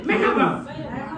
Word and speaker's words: merhaba: Yeah, merhaba.